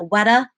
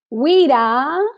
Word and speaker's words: WIDA: Is it WEDA? WIDA. Yeah, I always say WIDA.